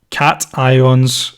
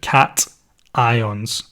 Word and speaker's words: cation: some another one here positively charged ions are called cat ions occasions depending how you want to pronounce it cat ions so positively charged ions